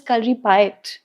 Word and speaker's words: Kalaripayattu: that the spelling is kali pu but it's pronounced as kali pi.